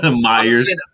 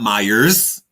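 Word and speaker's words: Meijer: you like and I want to say I pronounced maer I know Myers Myers um Illinois we don't have any here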